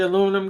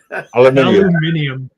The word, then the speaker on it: aluminium: How do you say aluminum, guys? Aluminium.